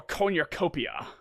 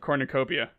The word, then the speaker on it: cornucopia: make it to your conurcopia that was a weird pronunciation of cornucopia yeah that was corn